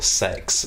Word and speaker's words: CeX: Because we were in Kex or CEX or Sex, as it's pronounced in the advert.